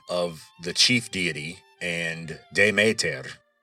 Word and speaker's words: Demeter: the chief deity and Demeter, which in Attic Greek would be pronounced Gemeter, kind of like Gemeter. Now, that GE might ring a bell. Ge or Gaia is earth in Greek. So in Doric Greek, Demeter was Damater.